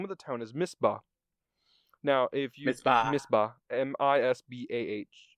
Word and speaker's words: Misbah: chapter, and the name of the town is Misbah.